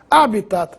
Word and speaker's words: habitat: pronúncia é abias corpos habitat assim como habias Corpus habitat é uma palavra Latina por isso não recebe acento gráfico mas se pronuncia como se fosse proparoxitona habitat ibero ibero é